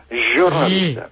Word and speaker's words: jornalista: O xota do inicio non é como pronunciamos aquí. Sería jornalista. A ver, Kiko. Jornalista. É como en inglés, é general. Ok?